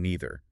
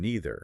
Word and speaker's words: neither: Generally speaking, in American English, the dominant pronunciation is either and neither.